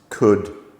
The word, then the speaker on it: could: Could, should, would.